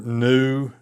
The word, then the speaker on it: nu: Uh, your new, you didn't pronounce it like an English v, but rather an N sound.